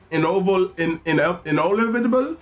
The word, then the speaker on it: Inolvidable: Inolvidable. It's like inevitable. Inolvidable, child.